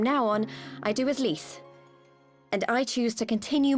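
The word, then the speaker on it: Lyse: My real name is Lise. Sure it's not pronounced lies.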